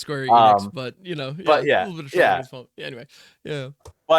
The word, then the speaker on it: Square Enix: Sorry YouTubers, but we're we're looking at live chat when this is how we know it's pronounced Square Enix, but you know, anyway.